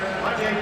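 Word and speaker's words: Matej: Penalty to Slovakia's number 29, Mate Bukna, 2 minutes for holding.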